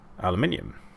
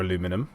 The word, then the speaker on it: aluminium: I've got that's where I'm getting bauxite from, and bauxite is the mineral ore for aluminium, or aluminum if you say it wrong.